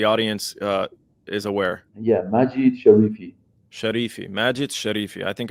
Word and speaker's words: Majid Sharifi: Can you pronounce it now so the audience uh is aware? Yeah. Majit Sharifi. Sharifi. Majit Sharifi. I think I said uh Shakiri.